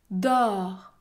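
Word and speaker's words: dors: abonnez-vous à cette chaîne dor dor dans ce mot la consonne s est muette elle n'est pas prononcé dor dor le mot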